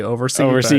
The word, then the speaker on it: OVRC: It's kind of like OVRC. It's actually Oversee.